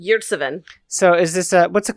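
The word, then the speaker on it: Ömer Yurtseven: Yurtseven? Yurtseven.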